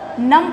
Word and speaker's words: numb: तो silent B silent है कहाँ पर, जैसे ये NUMB है, इसको नंब नहीं पढ़ते, इसको नम पढ़ते हैं, तो ये B साइलेंट होता है।